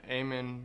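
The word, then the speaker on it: Eamon: by telling me your name and how to spell it uh I'm aan e a m o n I'm a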